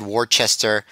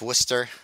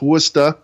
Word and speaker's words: Worcester: going to get really mad that you said warchester but it is pronounced worcester oh god i screwed up i knew i